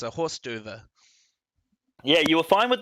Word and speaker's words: hors d'oeuvre: Yeah, and as Evan says, it's a horse d'oeuvre. Yeah, you were fine with the hors d'oeuvre.